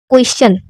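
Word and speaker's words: question: यदि किसी शब्द में यस के आगे टी आई ओ एन हो या टी के आगे यू आर ई आए तो टी का उच्चारण चा हो जाता है। जैसे अब देखो यहाँ पर क्या है, क्वेश्चन। अब इसी टी आई ओ एन को क्या पढ़ा गया, चा पढ़ा गया।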